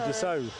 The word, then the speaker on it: Dassault: Grab H has pulled you up on the pronunciation of this plane. You're in the naughty corner like me. Oh, It's a Dassault.